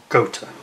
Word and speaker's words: Gotha: Gotha bombers is the correct pronunciation. Get that one right.